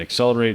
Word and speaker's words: Xcelerate: um accelerate us again accelerate is is spelled uh not the common spelling it's uh with an x c e l um so that's accelerate um if we go